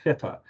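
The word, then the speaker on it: FIPPA: regimes and on Ontario it's also confusingly pronounced FIFA although it's the personal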